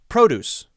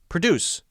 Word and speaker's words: produce: UC e produce produce if you say that wrong incorrectly you put the stress on the wrong syllable the wrong part of the word you will be misunderstood perhaps because produce means fresh fruits and vegetables and produce means to make something to create something two different meanings so